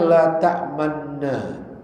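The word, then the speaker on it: لا تأمنّا: isma ismam ya itu bacanya la tamanna tapi harus bacanya harus monyong la tam ya la tam mulutnya dibonyongin la tamna ah itu cara bacanya Ya. Ya, seperti itu. Walaupun terdengarnya sama la tamna sama juga la juga tapi cara baca harusnya dengan kaidah mengkonyongkan mulut isma itu dia ya itu secara itu secara kaidah ilmu tajwid tap ya.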